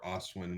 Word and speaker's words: Ostwjen: with it, we can put a J before the W and have it Ostwin, or Ostwin with a silent J.